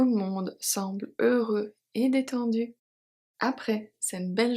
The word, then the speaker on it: heureux: Heureux, we've seen this one. So the H is silent and the X is silent as well.